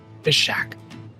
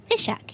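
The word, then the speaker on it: Phiseagh: a g h pack pish Shack pish Shack yeah like piss but pish a pish a and that's a hard not a go one one of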